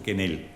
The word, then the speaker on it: Quenel: Exactamente, Clemente Coinelle se escribe, ¿no? Y que si el médico era Coinelle, pero Quenel, ¿no es cierto? Entonces ella después directamente lo simplifica, porque todos decían Coinelle, entonces finalmente se puso Quenel, que es la forma de pronunciar mucho más simple.